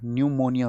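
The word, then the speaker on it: pneumonia: न्यूमोनिया। पी निमोनिया पी से spelling होती है। वैसे तो इसकी निमोनिया होता है।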